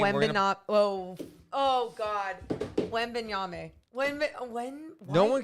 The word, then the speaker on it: Wembanyama: Wembanyama. You nailed it. Wembanyama. Give it up to Morgan. Victor Wembanyama, who will be the second best player in